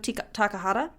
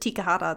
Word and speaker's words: Takahata: But it was written and directed by Isao Takahata. I almost said Tikahata. That's not right.